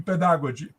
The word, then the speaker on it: pedagogy: she did not speak she did not pronounce very well pedagogy I think she was pronouncing like in the you know inter iic period with a with a German influence where the D was pronounced a t in pedagogy anyway the thing is